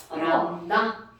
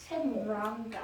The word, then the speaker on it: 람다: 람다. 람다. 세모 아니야. 들립자. 한자 들립자. 람다. 람다라고 읽어.